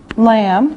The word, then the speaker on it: lamb: Okay, now here we can put meat like beef, lamb, remember this is silent, the B is silent, pork, chicken, fish, and eggs.